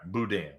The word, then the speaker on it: boudin: Boudin I love boudin you gotta say it right boudin but I'll tell you